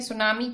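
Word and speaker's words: tsunami: सुनामी क्या होता है? टी साइलेंट है। ठीक है, सुनामी क्या था?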